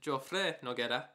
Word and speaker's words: Joffre Noguera: My name is Joffre Noguera. The way how you pronounce it is Joffre Noguera.